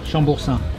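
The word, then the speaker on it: Chambourcin: So we have a sparkling, a white blend, a Riesling, and a Chamboursin? How do you say that? Come on, French boy, how do you say that? Chamboursin.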